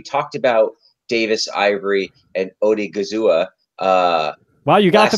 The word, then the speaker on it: Odighizuwa: We talked about Davis, Ivory, and Odighizuwa. Wow, you got the pronunciation.